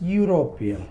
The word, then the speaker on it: European: European, not European. We are pronouncing as European.